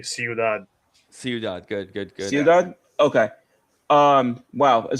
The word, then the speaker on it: Ciudad: Oh wait, it's Spanish, so it'd be Ciudad.